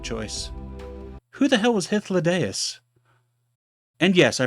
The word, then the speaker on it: Hythlodaeus: Who the hell was Hythlodaeus? And yes, I pronounced it correctly because I am a mythology nerd and I hung out with writing majors in college.